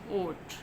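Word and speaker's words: oat: Sound होगी और दूसरा जो वॉवल होगा वो साइलेंट होगा। जैसे ये देखें फ्लॉट, ओट, हम क्या पढ़ रहे हैं?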